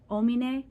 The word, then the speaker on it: homine: Oh, and the omine, the H is silent.